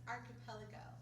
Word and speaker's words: archipelago: would go underwater archa Polly Joe it's actually pronounced archipelago that was a good shot I was probably